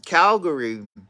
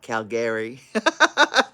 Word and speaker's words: Calgary: but we were in Calgary. That's how Americans say it, not Calgary, like the Canadians say it.